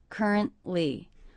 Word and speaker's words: currently: I heard currently with a stop. That's a stop T. Currently, currently. And in this 3-syllable word, I noticed that stress is on the first syllable.